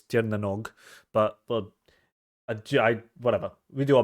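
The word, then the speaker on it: Tír na nÓg: On top of the fact that it's very Celtic inspired by Turnanog, and I've definitely butchered the pronunciation of that. Actually, I'm pretty sure it's Tirnanog, but whatever.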